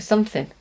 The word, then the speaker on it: something: It's very, very common that we don't pronounce the G at the end of words with the ing. We say in. We miss the G. Something, something, not something. It's too hard to say the G.